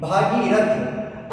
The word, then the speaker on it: भगीरथ: अब अब इसके साथ अगर अपन बात करते हैं तो भागीरथ शब्द तो अशुद्ध है क्योंकि शुद्ध वर्ड क्या होगा? भगीरथ होगा। ठीक है?